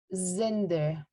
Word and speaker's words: Zinder: as cinder or zinder however it is written in an s but when we spell it or when we pronounce it it's zinder i i also want